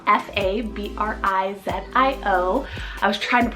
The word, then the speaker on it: Fabrizio: Kendry means wise man we have the name Fabrizio or fabrio spell f a b r i z i o I was trying to pronounce that correctly I